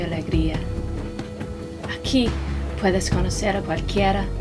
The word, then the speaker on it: cualquiera: De cualquiera, maybe you can try to pronounce it less like English, especially the vowels, more like cualquiera.